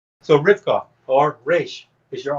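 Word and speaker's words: רבקה: But this is, again, just an eye opener that Rebecca is actually Rivka.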